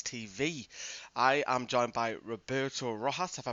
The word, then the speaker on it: Roberto Rojas: I am joined by Roberto Rojas. Have I pronounced that right?